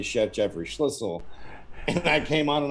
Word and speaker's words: Schlissel: gets on he goes whistle sounds like schlissel because that's how i tell people to pronounce the name that's exactly what you